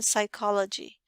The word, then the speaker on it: psychology: in this case is the silent p in psychology so when you click